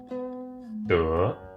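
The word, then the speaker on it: 德: This character, this word in Chinese, is pronounced de.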